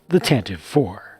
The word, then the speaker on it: Tantive IV: Hello everyone, this is LEGO's latest version of the Corellian Corvette, the Rebel blockade runner, the Tantive IV. The Tantive IV. Yes, it's pronounced Tantive.